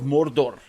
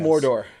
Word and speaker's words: Mordor: it's pronounced but yeah Mordor it'll be a lot like that I like pronouncing it Mordor because in the rings of power they were like really rolling the r okay Mordor because I